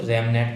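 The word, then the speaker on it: RABMN: अगला रैब एमनेट, ठीक है, इसको रैमनेट बोलते हैं, वैसे बी साइलेंट है आपका।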